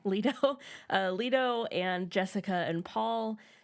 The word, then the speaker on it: Leto: We meet what did we decide? Leto or Leto? Leto.